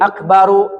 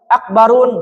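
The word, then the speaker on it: أكبر: Jadi akbaru enggak boleh, akbarun enggak boleh. Asgorun enggak boleh ya. Jadi dia termasuk isim yang dilarang tanwin. Akbaru, asgoru ya dibacanya ya.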